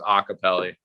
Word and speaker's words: Iacopelli: your last name though, it's pronounced Iacopelli, not Iacopelli? Yeah. A lot of people, I mean, I don't really care if they pronounce the last name right. I mean, Iacopelli, but the proper pronunciation is Iacopelli.